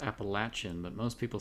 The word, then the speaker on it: Appalachian: I say write Appalachian not Appalachian it is pronounced Appalachian but most people say Appalachian yeah in the Northeast we definitely say Appalachian but I was corrected its Appalachian so vehicle action yeah so Bob had a